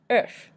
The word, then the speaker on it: oeuf: Oeuf, an egg, oeuf. We talked about the noise before, the O-E-U, and we pronounce the F at the end, oeuf.